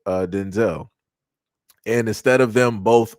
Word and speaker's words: Denzel: Washington is not pronounced Denzel Washington. is pronounced Denzel, which is crazy. Never knew that up until Denzel Washington say that uh said that. It was just for the longest time he just didn't correct people. But his correct pronunciation of his name is Denzel.